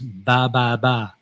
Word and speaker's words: 333: But the Vietnamese pronunciation is ba ba ba.